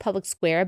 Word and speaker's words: Public SQ: It's pronounced Public Square, but it's spelled Public SQ.